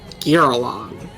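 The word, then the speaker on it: Girallon: well, let me get the pronunciation, make sure I'm saying this right. This is exciting. Giralon is what D&D Beyond is telling me.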